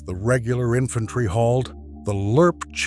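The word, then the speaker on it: LRRP: Steel and water weighed too much and made noise, so the army developed something new in 1964, a freeze-dried ration the men pronounced lurp.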